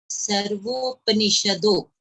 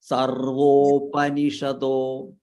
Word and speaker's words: सर्वोपनिषदो: One thing here, Sarvopanishado. सर्वोपनिषदो. Upanishad. Sarvopanishado. सर्वोपनिषदो. This pa should be fully pronounced.